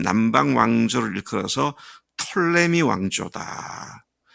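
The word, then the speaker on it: Ptolemy: 한 남방 왕조를 이끌어서 톨레미 왕조다 뭐 어떤 발음은 앞에 피가 목음으로 묵음이기 때문에 톨레미라지만 그렇게 말을 하는데요 남방은 톨레미 왕조고 북방은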